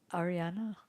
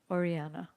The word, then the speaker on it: Oriana: Ariana? Did I say it right? Huh? Oriana.